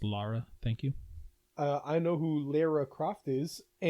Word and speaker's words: Lara: It's pronounced Lara.